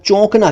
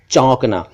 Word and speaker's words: चौंकना: इसी तरह चौंकना, इसको कुछ लोग चौंकना कह देते हैं, मैं चौंक गया, ये ठीक नहीं है, मैं चौंक गया, ये ठीक है, चौंकना।